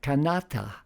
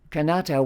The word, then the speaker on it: Kanata: strident than the alonquin canata with its softer T and balance with the accent in the middle in the alonquin canata wasn't about a European